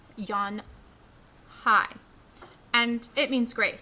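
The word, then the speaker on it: Unhei: she nodded slowly yes it's pronounced yon hi and it means grace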